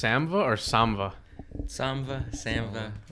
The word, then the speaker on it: Samva: it pronounced Samva or Samva? Samva.